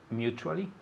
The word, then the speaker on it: mutually: t u that latte it sounds like a ch mutually mutually mutually again